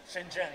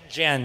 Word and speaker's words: Shenzhen: saying it right Shenzhen shenen shenen the pronunciation Shenzhen not shenen Shen shenen exactly um so um yeah